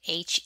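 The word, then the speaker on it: Hermès: Hermes that is spelled h-e-r-m-e-s and is pronounced Hermes it is French so when you hear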